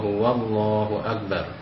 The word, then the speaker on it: Wallahu Akbar: Misalkan banyak sekali setelah pelafalan tahlil La ilaha illallah itu, kemudian masuk ke kalimat takbir, huruf wawunya tidak disertakan. Jadi banyak yang kita jumpai dalam pelafalannya itu La ilaha illallah, Allahu Akbar, padahal di situ ada wawunya. Jadi usahakan bisa dibenahi, tapi dengan cara yang bijaksana. La ilaha illallah, Wallahu Akbar.